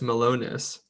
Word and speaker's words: melonis: And the description here, just very quickly, is that a high occurrence of Spingomonas, particularly Spingomonas melonis, like melon, IS.